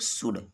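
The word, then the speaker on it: should: तो मैंने क्या बताया है कि यू और डी के बीच यल साइलेंट होता है, तो यल का उच्चारण नहीं करते हैं। वैसे तो लिखा है शुड, लेकिन इसको क्या पढ़ेंगे हम लोग, शुड।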